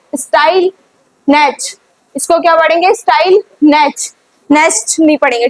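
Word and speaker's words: Stille Nacht: थे इट वाज़ स्टाइल नेच इसको क्या पढ़ेंगे स्टाइल नेच नेच नहीं पढ़ेंगे टी नहीं प्रोनंसिएट करेंगे अपन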